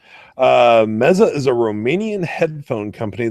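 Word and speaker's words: Meze: Titan Cronus about meza he says is actually the pronunciation meza is a Romanian headphone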